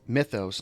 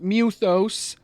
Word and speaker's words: Mythos: Drake's head he addressed Clive as Mythos not muthos like they insist on such a stupid pronunciation or pronunciation before attempting to